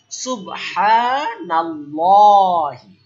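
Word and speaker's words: سبحان الله: যে নুন জবর পাইলাম কিন্তু এই নুন জবর আল্লাহ শব্দের লামকে হেলপ করছে নাল দ্রুত বললাম নাল এখন লামটা আমি কিভাবে মোটা সুবহানাল্লাহি সুবহানাল্লাহি সুবহানাল্লাহি অক্ষ করলে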